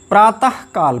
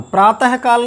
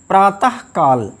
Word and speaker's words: प्रातःकाल: इसका शुद्ध उच्चारण है अंतःकरण, अंतःपुर, हाँ नहीं, अंतःपुर, प्रातःकाल, प्रातःकाल नहीं, प्रातःकाल।